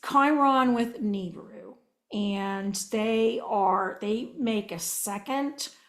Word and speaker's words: Nibiru: And because Nibiru, I call it Nibiru, I know some of you guys pronounce it Nibaru.